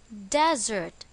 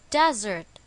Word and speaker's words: desert: it is pronounced as desert this time the stress is on the first syllable desert examples the setting of